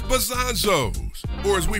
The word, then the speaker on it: Bazonzoes: Bazonzoes? Bazonzoes. How do you say it? Bozombies? Bazonzoes. Nah, it's Bazonzoes, or as we pronounce it, the OG dispensary of your dreams.